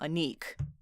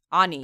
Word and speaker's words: Anik: So this one is from Go Anik Go, and we found out actually too that you say his name Anik. Anik. Thanks for clarifying that.